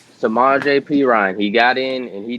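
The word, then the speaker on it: Samaje Perine: Mixon didn't play uh p-run I know I'm getting hit saying his name wrong no no it's samaj apron samaje P Ryan he got in and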